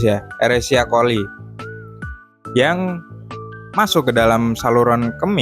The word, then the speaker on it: Escherichia coli: Bacanya pakai bahasa ini ya, pakai bahasa Inggris ya, Escherichia coli, yang masuk ke dalam saluran kemih melalui uretra dan berkembang biak di kandung kemih.